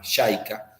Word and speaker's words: JICA: Argentina y latinoamérica que se llama yaika jica se escribe con j tenían esa lógica de